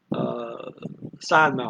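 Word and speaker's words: 三毛: Okay, and then the next syllable is going to be mao, rising tone. San Mao.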